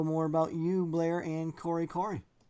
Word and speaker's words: Kore: he also is part owner of the store Corey Corey so Blair thanks for coming on hello thank